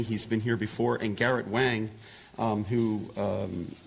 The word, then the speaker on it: Garrett Wang: And Garrett Wang, who it's actually pronounced Garrett Wang, started in theater while majoring in Asian studies at UCLA.